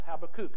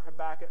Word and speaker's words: Habakkuk: the book of habakkuk or you could pronounce that as habbakuk i've heard it done either way i prefer habakkuk because i'm old school 319 the prophet is